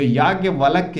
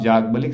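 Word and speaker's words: याज्ञवल्क्य: लिखा है जाग बलि बहुत सारे ऐसे लोग होते हैं जो याज्ञ वलक्य नाम प्रोनाउंस नहीं कर पाते। उसको आप जागबलिक सामान्यता कह सकते हैं।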